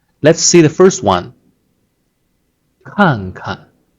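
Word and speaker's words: 看看: The first is to stress, and the second, you give a gentle push.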